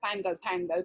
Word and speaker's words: Pago Pago: It used to be part of a game show back in the late 80s called, I think it's pronounced Pango Pango, but it's spelled Pago Pago, P-A-G-O, P-A-G-O.